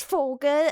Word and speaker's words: Vogel: Like, you know, the V, for example, there's different ways to pronounce a V. There's Vogel and Vampir.